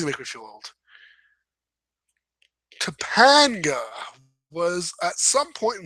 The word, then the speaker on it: Topanga: Oh, Topanga, pronounced Tapanga. For those who will have only ever seen it written down, is the name